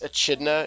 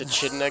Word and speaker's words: echidna: So I guess As well Tails as- So and I Charmy are pronounced going to it be wrong. hanging out too. It's echidna. It's echidna, guys.